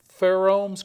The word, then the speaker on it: pheromones: And we know that celery has that very unique, specific aroma, and he's discovered 2 pheromones. Could you pronounce that word to me?